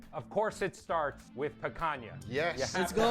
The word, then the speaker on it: picanha: blade, effortless glide, no tearing, no sawing, just clean, That's even picanha.